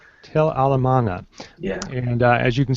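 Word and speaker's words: Tell el-Amarna: and I don't want to mess up the pronunciation there, Paul. The Egyptian city of what? Tel El Amarna. Tel Al Amarna.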